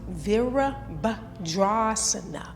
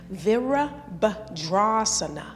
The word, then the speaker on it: Virabhadrasana: It's pronounced Virabhadrasana. Virabhadrasana.